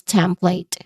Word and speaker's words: template: Uh pronunciation wise you start with temp. There's two syllables only here. The stem which is a which has a short a sound and then you end with plate where it has a consonant blend at the beginning and then followed by a dip thong sound.